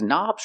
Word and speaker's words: knob: has a k and the K is silent don't pronounce the k start with the n Sound knob one knob two